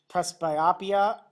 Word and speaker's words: presbyopia: You could also have the inability to read small print, presbyopia, I think that is the correct pronunciation, PRESBYOPIA.